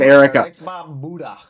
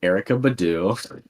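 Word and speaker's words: Erykah Badu: I know who I've heard of erha okay it's Erica Badu I like my pronunciation better okay I've heard of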